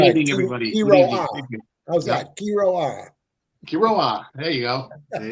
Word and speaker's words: Quiroa: David, how was my pronunciation? You did fairly well. Fairly well. Good evening, everybody. Quiroa. How's that? Quiroa.